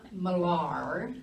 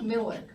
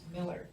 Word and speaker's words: Millar: It's not Millar, it is Miller. It's spelled Millar, but it's pronounced Miller.